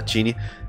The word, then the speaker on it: Qinni: noticiamento do falecimento da tini aparece que essa é a pronúncia que ela mesmo explicou uma vez no twitter também que em chinês o ca tem som é o que tem som de ch então ela já tinha